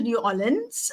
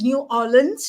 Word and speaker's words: New Orleans: I did go to New Orleans um and it's New Orleans not New Orleans uh as I was told to pronounce it um and I have